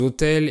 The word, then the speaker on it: autel: Le chœur est la partie de l'église où il y a les autels et les reliques. Un autel, c'est un mot qui a la même prononciation qu'un autel avec des chambres pour dormir, mais là je parle